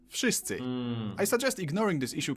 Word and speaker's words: wszyscy: W in wszyscy should sound like wy, wódka, wojna, but it seems to soften up to an F, wszyscy.